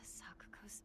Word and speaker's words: Sakuko: The key to Sakuko's mailbox? Sakuko's. So it said Sakuko. Okay, that's how you say her name.